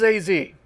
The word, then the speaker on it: AZ: Alright, this is AZ, which is apparently how his name is pronounced.